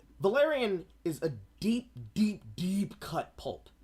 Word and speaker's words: Valerian: Is it pronounced Valerian? Because I'm pretty sure it was. Yeah, no, Yeah. wait, you're right. It's Valerian.